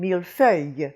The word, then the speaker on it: millefeuille: Now, that iyuh comes from ille, and we have had several words like this in the hard words, which indicates that it's something that confuses non-French speakers. We had it, for example, a while back in millefeuille.